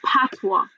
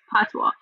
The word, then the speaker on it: patois: a dialect it's called patois do you speak a different dialect or right so it's it's called the it's called patwa it's spelled patois p-a-t-o-i-s but it's pronounced patwa so you know jamaicans